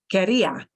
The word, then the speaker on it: quería: But do notice that querría with a strong trill, querría is not the same as quería. So here's the one little again, a caveat. Here, this is a pronunciation thing. Quería with a little trill. Quería, I wanted, past. But look, querría is conditional, strong trill. So that does make a difference.